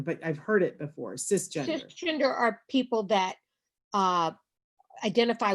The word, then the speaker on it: cisgender: Is it CIS gender? Cisgender. Yeah, cisgender. And it's not a term that I know well enough to define, but I've heard it before, cisgender.